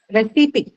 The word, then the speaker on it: recipe: recipe see second syllable recipe first syllable what is recipe it's a noun right and isn't it ah recipe is a noun so it is going to be stressed on what the first syllable right in this case